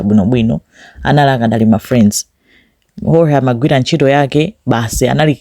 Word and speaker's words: Jorge: Ndikuti Jorge mene amalembera, mene amachitira pronounce, koma spelling yake imakhala ndi J yo amamuti ho, amankangata kumuchula ngati H, anthu aku Spain.